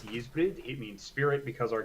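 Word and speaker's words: Ysbryd: If you want to pronounce it in native Welsh, it's Yizbrid.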